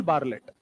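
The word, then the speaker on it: Bartlett: एक साइंटिस्ट हुआ करते थे पुराने जमाने में, उनका नाम है नील बार्लेट। टी साइलेंट है इनका।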